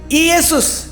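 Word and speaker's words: Ἰησοῦς: यशुआ है ना यशुआ यूनानी में इसका उच्चारण युस हो जाता है। इशुस इशुस युस मतलब यशु हां यशु होता है।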